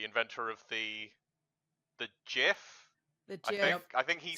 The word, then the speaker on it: GIF: The GIF.